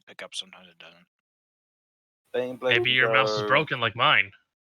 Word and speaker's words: Baneblade: So yeah, this will, if you put it right there, you'll hit the Bane Blade at least from the side, and that'll damage it a bit. You're pronouncing it wrong. It's Bane Blade.